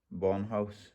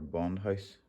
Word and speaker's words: Bondhus: well today we've brought in the bomb house or bondhouse bondhus however he pronounced it t handles and hex and torx